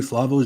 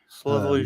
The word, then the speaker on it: Slavoj: Oh, with a Y. Yeah, Slavoj. Because he's a Slovenian? He's Slovenian, but it's Slavoj. But I don't know if you're gonna Slavoj. Yeah, no, J is Y.